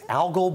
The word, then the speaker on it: algal: have heard before and we didn't know how to say it until just now Taylor was right it's algal bloom uh it's a rapid